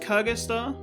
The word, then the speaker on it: Cagaster: know we'll just say i believe it's pronounced kagesta of an insect cage it's